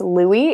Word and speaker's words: Lui: It's Louie. It's Lui. Lui.